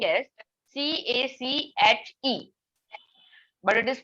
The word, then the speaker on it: cache: As we see, it has a spelling as CACHE, but it is pronounced as cache.